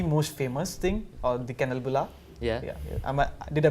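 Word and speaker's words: kanelbulle: which is the most famous thing or the kennel bola yeah did I pronounce it right you did yeah so that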